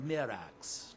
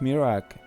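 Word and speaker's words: Miraak: so the Temple of Mira how do you pronounce it not Mira but Mir Mir I think he pronounce it uh so the Temple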